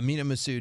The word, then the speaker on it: Massoud: love that they got uh what's this mini masood is that how you say it yeah massoud nina massoud i love that they got him